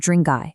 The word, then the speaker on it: Drang: So, when we talk about the Drangay surname today, we're actually investigating a very specific indigenous Kram. Now, what's really interesting about this is the actual root word itself, Drang, or sometimes pronounced Dranga. This is an ancient Kashmiri